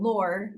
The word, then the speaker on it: Lohr: recently got married and my new last name, Lohr, is pronounced like Lore, even though it's not spelled that way.